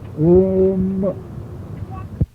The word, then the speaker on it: Om: saying om om om mother said that the last syllable we just swall she said you have to clearly pronounce it om any questions last time